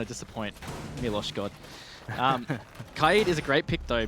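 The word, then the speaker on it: Kaid: need yes I do you say Kato keyed I say Kade yeah I think that's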